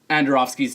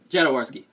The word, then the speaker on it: Jodorowsky: see out of the new Dune movie was Androfsky's Dune. Like, Jodorowsky.